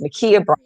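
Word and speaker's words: Ma'Khia: day um makia bryant i got the pronunciation of her name i know we talked about this on the show it's makia 15 year old columbus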